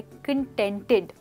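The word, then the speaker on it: contented: और इसी के साथ देखते हैं हमारा नेक्स्ट वर्ड जो है कंटेंटेड। दोस्तों, कंटेंटेड की प्रोनाउंसिएशन बहुत इंपॉर्टेंट है। यहाँ पर हमने टी लगाया है, कंटेंटेड, राइट?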